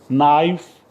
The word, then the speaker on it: knife: K is silent, yes, like we say K is silent, knee. So knee, body part. So KNEE, we say knee. And no, KNW, we say no, don't say no. Knife, KNIFE, knife.